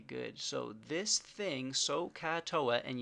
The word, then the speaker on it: SohCahToa: So this thing, SohCahToa, and you need to pronounce it properly. So is OH. Ka is AH. You can hear that in the ka. And toa, we pronounce the A, so you remember that it's over A.